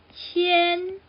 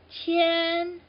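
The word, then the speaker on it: 谦: Remember that tone I told you? But it actually has that extra line on, not that line. That extra line here. So to determine that this is a flat sound or flat tone, so it's qian.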